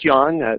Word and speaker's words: Jan: It's pronounced Jan, though it's spelled like Ian.